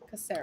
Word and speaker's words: Caceres: Caceres, isn't it? Yeah, soft C. Caceres.